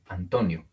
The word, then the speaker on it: Antonio: Vean en este nombre, Antonio. Es una palabra grave. Luego les diré por qué. Pero tiene el acento en la penúltima sílaba.